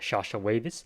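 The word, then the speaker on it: Llallawavis: terror bird called a sasha wavis uh from the plio scene of argentina and that that's apparently how you say its name despite uh how it's spelled uh yeah i i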